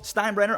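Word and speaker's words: Steinbrenner: to sign with so the Yankees owner how Stein brener I finally said it right on the first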